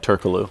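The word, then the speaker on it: Türkoğlu: his last name properly turo turo the other g is silent Real G's moveing silence exactly like turkalo like turo yeah so Turk's pregame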